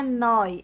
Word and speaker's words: noi: Por causa do nós, que a pronúncia é aberta, muitas pessoas fala noi. Não é noi, é noi, fechado, noi.